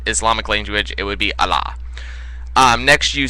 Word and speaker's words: Allah: You said Allah, it's pronounced Allah.